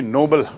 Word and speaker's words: Nobel: पैसे की सबसे ज़्यादा पैसा उस पुरस्कार में मिलता है, उसे कहते हैं नोबेल पुरस्कार, जो एक व्यक्ति के नाम से है, सर अल्फ्रेड नोबेल, और उसकी स्पेलिंग है NOBEL।